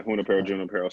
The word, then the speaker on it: Junípero: But George, out of Junípero Serra High School, did I pronounce it correctly? Yeah, Junípero, same thing.